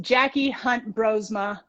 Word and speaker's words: Jacky Hunt-Broersma: handle is nc runner jackie her name is pronounced jackie hunt brosma i was very proud that i did that